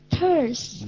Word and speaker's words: thirst: Thirst. Đúng rồi, thấy âm T không mà, nó phát âm là âm TH.